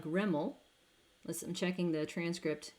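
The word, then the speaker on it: REML: would be useful anywho rimmel as it is pronounced is residual maximum likelihood so maximizing the likelihood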